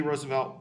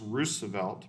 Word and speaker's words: Roosevelt: known for is the national parks system teddy roosevelt was a by the way his name is pronounced roosevelt but no big deal um he wanted to